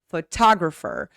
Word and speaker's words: photographer: Between two vowels in the syllable that is not stressed. Like a classic example I like to give is photo, photograph, but photographer, because ta is the stressed syllable, you cannot make the barata sound.